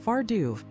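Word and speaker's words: Fear Dubh: And if you think the leprechaun's tricks are bad, you should hope you never meet his darker cousin, the feared dub. Pronounced Farduv, the name means the dark man.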